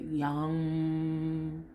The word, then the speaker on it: Yam: much but um anyway i pronounce it young and it's spelled y a m you can always google